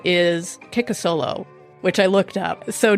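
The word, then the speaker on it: Kikisoblu: Her Duwamish name is Kikasolo, which I looked up. So Duwamish is the tribe. So it's spelled like Kiki So Blue, but it's pronounced Kikasolo.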